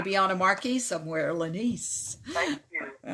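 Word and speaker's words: Lenese: before what it's lenny spell it for me please darling l-e-n-e-s-e oh laniece what a pretty name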